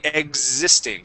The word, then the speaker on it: existing: amounts okay good existing so that X is going to sound more like a z sound so instead of saying X existing we would say existing try that one more